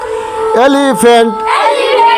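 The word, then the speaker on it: elephant: এইচ এন টি ফেగ్ পি এইচ যেখানে থাকবে ওখানে ফ উচ্চারণ হবে কি উচ্চারণ হবে ফ ওইটাই হলো ফ এলিফ্যান্ট এলিফ্যান্ট এলিফ্যান্ট অর্থ হাতি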